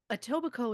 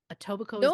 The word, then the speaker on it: Etobicoke: place something like that a tobacco is not just what locals call it Etobicoke is literally what it's called that's just I know